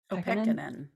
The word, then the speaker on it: Pekkanen: Pekkanen.